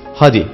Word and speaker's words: hadi: Haydi'deki Y harfini söylemeyiz, hadi deriz.